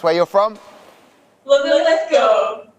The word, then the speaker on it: Linlithgow: So please, for the first time and last time, can you please pronounce where you're from? Linlithgow. Linlithgow, of course, it's easy.